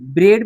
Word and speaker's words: bread: जैसे for example देखिए, BREAD, ब्रेड में ई आया, तो BRED में ए साइलेंट है, तो ब्रेड पढ़ते हैं।